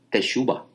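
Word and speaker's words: תשובה: Lo que usted conoce como arrepentimiento es una palabra hebrea que se se pronuncia en en hebreo se se llama teshuba.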